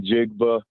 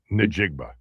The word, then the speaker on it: Njigba: Do you realize that you've been pronouncing Jackson Smith in Jigba? You pronounce his name Jackson Smith Njigba? Njigba.